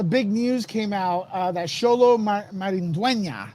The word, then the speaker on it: Xolo Maridueña: And then, the big news came out that Xolo Maridueña, that's how you pronounce his name. Now, Xolo, Xolo Maridueña. Okay? When you have the accent on top, you have to go, yeah, make that sound in Spanish, right?